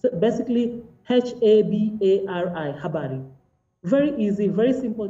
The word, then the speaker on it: habari: And like one of the speakers in that story mentioned, it is just written as it is spoken. So habari is just written in those three syllables. It's basically H-A-B-A-R-I, habari.